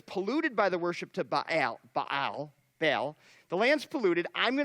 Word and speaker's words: Baal: B-A-A-L, it's pronounced Baal.